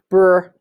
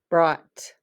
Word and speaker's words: brought: o sound and then the g h is silent and we make the t sound that sound brought brought all right let's trace